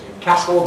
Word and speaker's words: Newcastle: Hull, Newcastle on Tyne, I don't know whether to call it Newcastle or Newcastle, because locally it's Newcastle, but of course I normally call it Newcastle up there.